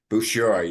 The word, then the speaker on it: Bouchard: Bouchard, you don't pronounce it the D.